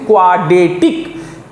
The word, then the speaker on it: quadratic: लिखाता है QUADR, लेकिन R का उच्चारण नहीं होता है, वो साइलेंट रहता है, सीधा सीधी बोलते हैं क्वाड्रेटिक इक्वेशन।